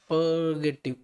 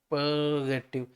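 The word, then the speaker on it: purgative: आर को बोलना है पर नहीं बोलना है, एकदम साइलेंट नहीं है आप, पर्गेटिव इस तरह से, पर्गेटिव। आर को पूरा नहीं बोलना, बहुत ही माइन्यूट से आप 10% पर 15% इस तरह से कह सकते हो आप।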